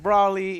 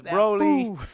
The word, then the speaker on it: Broly: know, it said Brawly on there, and he pronounced it Brawly, even though it's Broly.